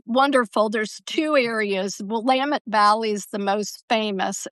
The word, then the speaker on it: Willamette: most people know the Willamette Valley the best and if you it looks like Willamette, but you think of it Willamette, dammit, is how you remember how to pronounce it.